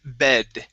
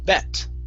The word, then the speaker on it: bed: uh next up is the word bed here you pronounce the t sound saying bet okay bet is to